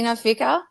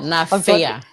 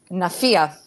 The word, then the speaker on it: Jackie Nafia: I had to rehearse it so I could pronounce it on the night. Nafia. Nafia. Yeah. There we go. Jackie Nafia for reactive.